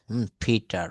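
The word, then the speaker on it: Peter: এটা কিন্তু আসলে পিটার হবে না, এটা উচ্চারণটা হবে পি এর জায়গায় ফ বলতে হবে। ফিটার, ফিটার। পি রয়েছে আবার টি রয়েছে, পি আছে, টি আছে, পি আছে, টি কে কি বলবো? ঠ। ফিটার, ফিটার। ফাইফার, ফিক্ট, ফিক অফ ফিকেলড পেপারস।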